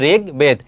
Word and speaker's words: ঋগ্বেদ: ঋগ্বেদ, উচ্চারণটা কি হবে? ঋগ, রি থাকলে সেখানে রয় রস্যি হবে, তাহলে এখানে কি হবে? ঋগ্বেদ, একটি।